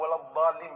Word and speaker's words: ولا الضالين: حکم بہرحال باطل ہے۔ لابد تقول ولا الضالين بالضاد وليس بالضاء. یہ ضا تلفظ جو ہے